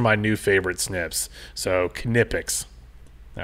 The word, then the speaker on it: Knipex: three with 17 votes at number two are canipix so that's how you pronounce it you've got to watch this video